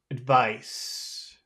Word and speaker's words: advice: advice advice advice advice are those big vow advice vowel sounds advice advice advice a big both of them there are two vowel sounds two syllables in there are they both big ad advice yeah both pice uh addice no no I don't think that they're both big I think one is small and one is Big which